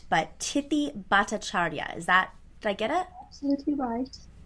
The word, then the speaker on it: Tithi Bhattacharya: I do need her to correct the pronunciation of her name so I get it right. But Tithi Bhattacharya.